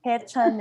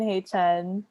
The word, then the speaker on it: Haechan: Haechan is the Korean way to say it.